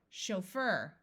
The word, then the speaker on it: chauffeur: means extreme happiness maneuver this CH will use the French sh sound chauffeur a chauffeur is a driver